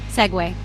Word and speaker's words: segue: To move smoothly from one topic to another, people say seg or seg you. Segue.